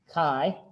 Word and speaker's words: chi: the chi-square test so chi-square pronounced kai not chi that's something different this has nothing to do with your inner spirit this is a statistical